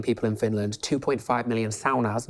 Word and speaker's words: sauna: in Finland, 2.5 million saunas, not saunas, you pronounce it saunas. Saunas is sauna. So that's basically... It's a Finnish word that we've all been saying We butchered it, yeah.